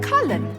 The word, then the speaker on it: Cullen: it's the only war cullen that's colin the mage wore